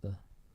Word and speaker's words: ye: 'Cause it's not like you don't actually pronounce it what ye, it's pronounced the.